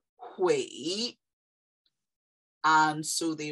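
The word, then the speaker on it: 悔: And when you bring heart and each together, it's pronounced hui.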